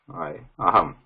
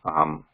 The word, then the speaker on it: अहम्: This aham, though it is written like this and pronounced like that with the anuswara, we know that aham Ramesha. That's how it should be actually pronounced, right? When it is anuswara, we do not, this writing and pronunciation is different. This is aham, whereas this is aham Ramesha. There is no pause between this saying Ramesha, Ra of Ramesha and Anuswara. It has to be continuous.